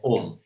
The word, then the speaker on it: Om: favorite Mantra is the OM Mantra why do I like the OM Mantra the OM Mantra is made up of three syllables which is a and then U and then M so when you pronounce